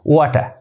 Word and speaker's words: water: Basically, when the R at last in the words, it remains silent. So, correct pronunciation of this word is water.